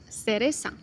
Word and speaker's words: cereza: In ceseo, for same letters, C and Z, are pronounced like S. For example, zapato pronounced as zapato. Cereza, it's pronounced like cereza.